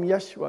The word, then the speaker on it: Yeshua: in Christ Jesus yes I call him Yeshua because that was closer to the right pronunciation let that mind which